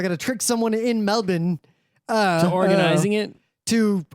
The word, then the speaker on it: Melbourne: on Friday in Melbourne. Melbourne Melbourne. Australia. Just if you want to pronounce Melbourne correctly, Melbourne. Imagine it's me LB I N. Melbourne. Melbourne. Forget that R. Forget the O.